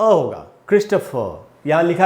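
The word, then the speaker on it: Christopher: क्रिस्टोफर, यहाँ लिखा है मैंने उच्चारण क्रिस्टोफर।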